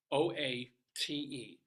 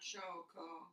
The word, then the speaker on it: inchoate: Inchoate, which I forever have been pronounced.